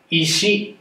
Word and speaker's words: 石: かというと、石で石と言います。それでは 2 回、練習してみましょう。せーの。石。